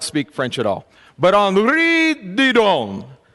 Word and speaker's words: Henri Didon: French at all, but Henri Didon, that's how they tell me his name is pronounced.